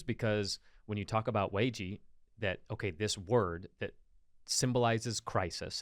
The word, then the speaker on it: Weiji: Pronounced Weiji. like whey protein. Weiji.